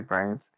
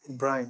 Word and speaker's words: Brandt: I think the pronunciation is Brandt. Brandt. The D is silent.